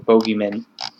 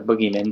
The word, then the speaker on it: bogeymen: demons, and even adding bogeymen, or boogeymen, depending on how you want to pronounce it.